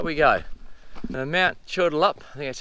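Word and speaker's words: Chudalup: here you see how we go now mount turtle up that's how you pronounce it there's a huge granite outcrop and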